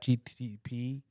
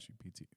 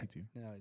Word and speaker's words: GPT: So I asked Chat GTP directly. Did I saying it right? Chat GTP. or something like that. GPT. Yeah. GPT.